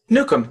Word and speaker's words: Newcomb: Newcomb say the last thing cuz I know I butchered it Newcomb des a correctly Newcomb yeah Oh Newcomb okay thank you yeah so